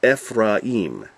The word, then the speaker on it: Ephraim: So instead of Ephraim, as we say, it's Ephraim.